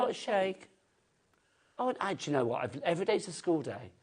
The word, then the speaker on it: Sheikh: See, if you have like the Sheik of Arabia... Shake. Is it a shake? Yeah. But you spell it S-H-I-E-I-K.